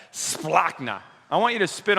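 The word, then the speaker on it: σπλάγχνα: when he saw him the greek root word for compassion is splockna say that and say it like just like that splockna i want you to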